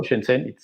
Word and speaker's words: Shenzhen: I remember that we talked with people from Wuhan and from Shenzhen. I pronounce it well, Shenzhen. Yes, Shenzhen. You've been to Wuhan and Shenzhen.